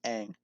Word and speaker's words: Aang: character names from avatar i know i know aang is it anger on i've heard it pronounced two different ways i think it's aang i think they called it ong in the in the really terrible m night shyamalan movie i think it's aang otherwise that's about it i